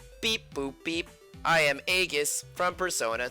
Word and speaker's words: Aigis: for supporting Eric oh EGIS your name isn't supposed to be pronounced that way but it is because the dubbing poorly chose their way of pronouncing it some people are into